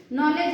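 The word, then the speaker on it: knowledge: से स्टार्ट होती है नॉलेज है के से स्टार्ट होता है लेकिन बोलते एन से है ठीक है आगे क्लियर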